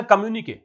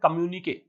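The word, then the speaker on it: communiqué: इन अ कम्युनिके, सबसे पहली बात तो इस वर्ड को क्या पढ़ेंगे? इसका प्रोनाउंसिएशन है कम्युनिके, राइट। कम्युनिके, कम्युनिक नहीं है, कम्युनिके।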